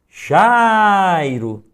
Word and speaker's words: Jairo: eu chamo esse nome, Jairo. Note que o Jai é a sílaba que mais se destaca. Jai é a sílaba tônica do meu nome.